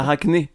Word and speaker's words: Arachné: C'est la dernière syllabe qui va pas. Arachné.